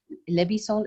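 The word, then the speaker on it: Leb i Sol: It was called Lebisol.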